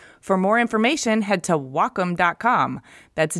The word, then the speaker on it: Wacom: Wacom no well calm no it's Wacom pronounced wah like the Japanese word for harmony and come for computer the Wacom Cintiq 16 creative pen